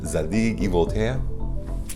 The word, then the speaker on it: Zadig & Voltaire: to struggle saying correctly i'm going to choose the actual french pronunciation zadie voltea it is from that